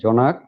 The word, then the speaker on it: জনাক: জোনাক, জোনাক জ্যোৎস্না থেকে জোনাক, আর জোনাক কথাটার আরেকটু অপভ্রংশ হয়ে এখানে হয়েছে জনাক। আমাদের আঞ্চলিক যে অ্যাকসেন্ট, ডায়ালেক্ট, এখানে উচ্চারণটা হয়ে গেছে জনাক।